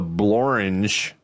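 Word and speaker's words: Blorenge: A rare example of a word that rhymes with orange. The blange is a what?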